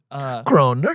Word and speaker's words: kroner: They all have their own Kroner.